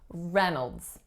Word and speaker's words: Reynolds: is a schwa nodes the trick with this one however is that it looks like the first syllable is Ray but we do not hear Reynolds we do hear Reynolds Reynolds so that's that you